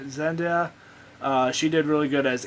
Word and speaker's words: Zendaya: um probably going to mispronounce her name but zendiya said zendaya she did really good as mj the actor